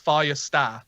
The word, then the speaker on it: Färjestad: So you don't pronounce the D at the end. It's Färjestad. Actually, Yeah. Färjestad. I think the official way to say is Färjestad, but we don't. Färjestad. No one talks like that.